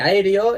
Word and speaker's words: aéreo: siempre forman yato y la separación en sílabas de aéreo es a e d o se separan primero la a y la e que son dos vocales abiertas y luego se separan